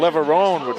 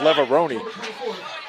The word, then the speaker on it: Leveroni: They pronounce the name Leveroni, and I see people over here call him Leverone. I don't know if it's the same family or not, but if it is, it's Leveroni.